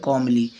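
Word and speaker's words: calmly: was passing the forest कमली य ल silent है कमली वह शांतिपूर्वक जंगल से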